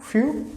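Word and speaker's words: fünf: you but if you own out is few few okay few now for right so overall pronunciation is few few okay okay few for few then six see pronunciation of six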